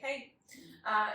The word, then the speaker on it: Haigh: Haigh. Yeah, Haigh. But it's just Haigh. Hey.